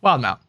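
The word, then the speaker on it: Wildemount: Yeah, Wildmount.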